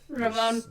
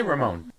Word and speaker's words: Ramon: Ramon. There's some psychological issues here. Oh, what the hell? Maybe Trying to roll your R's too much. Just say Ramon.